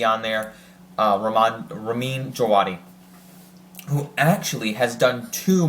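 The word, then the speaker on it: Ramin Djawadi: this show Raman jawadi I'm pretty sure I'm pronouncing that right it's duati it has a little silent V on there uh ramad Ramin jawadi who actually has done two Marvel compositions he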